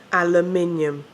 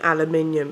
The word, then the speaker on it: aluminium: Aluminium. It's fucking aluminium. It isn't alumini. It's fucking aluminium. I don't care if you invented it. It's still aluminium.